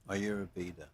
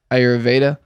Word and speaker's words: Ayurveda: Johnny Brannigan is how do you say I always pronounce it wrong. It's actually Ayurveda. Ayurveda.